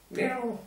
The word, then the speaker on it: miu: zum Beispiel war das Wort für Katze Miu oder Miau. Also so wurde es dann ausgesprochen. Miau. Miau.